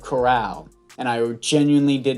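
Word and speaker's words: Corral: like my panthers reboot i kept saying matt carroll instead of chorale and i genuinely did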